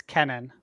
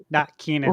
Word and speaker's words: Kennan: of hours ago and said it's Kenan, not Keenan. Okay. Like it's spelled Kennan. I don't think that it would be spelled that way, but he corrected it and said it's with one E.